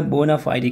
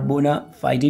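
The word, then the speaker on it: bona fide: इन a genuine की जगह मैंने बोल दिया बोनाफाइडी कंपनी। बोनाफाइड भी पढ़ते हैं और बोनाफाइडी भी पढ़ते हैं, जो कॉमन इसका प्रोनाउंसिएशन है यूके इंग्लिश में वो चलता है बोनाफाइडी।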